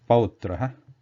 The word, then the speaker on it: pautraha: The Sanskrit word example here is pautraha, pau, the ow sound, then pautraha, and English equivalent sound something like noun, noun, that ow after noun.